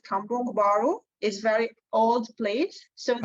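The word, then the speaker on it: Kampung Baru: but nearby me there is one area called cambrong baru is very old place so there you go how do you spell that rana it's k-a-m-p-u-n-g and space then b-a-r-u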